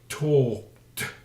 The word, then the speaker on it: talked: yesterday now why am I saying in the pronunciation talked why is you know that is important talked